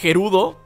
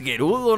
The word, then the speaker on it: Gerudo: quieran pronunciar es que en el capítulo pasado les decían here udo porque si es cierto no tienen la intermedia entonces pues si realmente se pronuncia here udo pero a mí se me hace más bonito decirles geru do no sé por qué